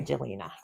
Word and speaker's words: Jelena: So I was like, I like the end, just the Jelena. Jelena. But you have to say it like Italian. But that never happened. Never had my Jelena.